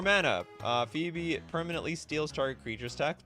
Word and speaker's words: Phoebe: If I understand correctly, this is pronounced Phoebe. Come on, Phoebe.